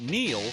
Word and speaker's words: Neil: It's no coincidence that Neil rhymes with deal, because that's something you could always count on with the leader in tires and auto repair for nearly a century.